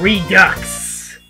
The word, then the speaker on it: Redux: You realize that's pronounced Redux, right? Redux!